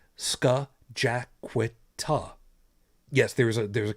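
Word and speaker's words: Scajaquada: The same way over here in Buffalo, there is a highway that it's spelled it's an indigenous name. It's Skajaquita.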